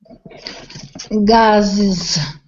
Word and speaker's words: gases: Gases. Gases. Okay, the pronunciation is just like the word, the simple word is, gases. It sounds exactly like is, the verb to be, present tense, simple present.